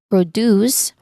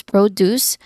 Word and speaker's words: produce: Or another example would be produce which is fresh fruits and uh vegetables produce and versus um another um another version which is produce to make something which is the verb um verb equivalence of it.